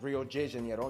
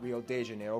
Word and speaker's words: Rio de Janeiro: That's right, it's pronounced Rio de Janeiro, not Rio de Janeiro. Get it right, we're not in Mexico, this is Portuguese, not Spanish.